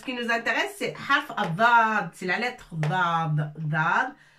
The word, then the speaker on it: الضاد: Alors الضاد مفخمة تنطق هكذا. الضاء.